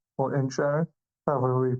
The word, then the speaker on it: Inisherin: your your result of inner sharing or in Sharing however we pronounce choose to pronounce it yeah it's essentially so it's like inish and then Aaron yeah exactly so today